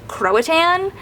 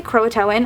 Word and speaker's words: Croatan: And there's a high school there called Croitan High School, which is spelled the exact same, but it's pronounced Croatan. So, whenever I hear them say Croatin, I'm like, this just does I cringe like it feels wrong, but I know it's right.